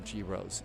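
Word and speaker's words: gyros: They pronounce some girros in Athens.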